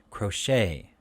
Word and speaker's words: crochet: a-i-g-h and then it crochet ballet these are french words so the t is silent so the a a